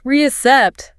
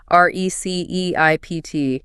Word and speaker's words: receipt: In English, we do not say the P at all.